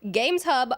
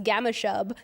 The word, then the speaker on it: Games Hub: should actually do is read Games Hub, which, unless you're the lady that lives in my AirPods, pronounces Gamma Shub every single time.